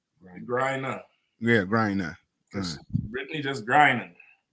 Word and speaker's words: Griner: I know how to pronounce her last name. Griner.